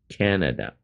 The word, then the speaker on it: Canada: ，不是，是 Canada，Can 重音在最前面，Canada，这是美国